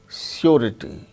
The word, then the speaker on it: surety: But R sound is pronounced when it is followed by a vowel sound, as in the case of surety, surety, surety, RITY, rity. So, R sound is followed by a vowel sound E. So, R is pronounced surety.